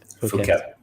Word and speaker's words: Phuket: Yeah, because they are saying now that they're still planning to open July 1 on, I always pronounce this wrong. Phuket.